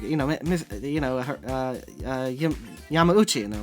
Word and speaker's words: Yamauchi: mr chef yeah that's pretty much the yamauchi yamauchi is the correct pronunciation yeah i didn't know that like i